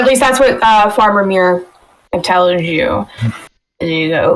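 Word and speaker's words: Myr: The farmer's name is Mir. It's spelled M-Y-R.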